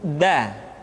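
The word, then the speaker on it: د: Selanjutnya pengucapan huruf da. Da diucapkan dengan menyentuhkan ujung lidah kita dengan bagian gusi-gusi dua gigi seri bagian atas.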